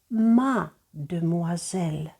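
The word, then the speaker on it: mademoiselle: прикметники і вони кажуть мадмуазель моя дівчина слово стало довгим ми трішечки незручно вимовляти тому ми літери И викидаємо з'їдаємо мадмуазель знайоме слово чи не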